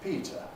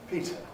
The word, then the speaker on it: Peter: I know someone whose name is Peter. In my kind of English, at any rate, his name is not Peter. It's Peter. Peter, because of this Pre-Fortis clipping effect.